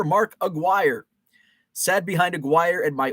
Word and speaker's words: Aguirre: had stream yard working rhymes with Maguire Mark Aguirre sat behind Aguirre and